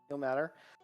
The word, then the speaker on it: Ilmater: Is it pronounced Ilmater? Ilmater.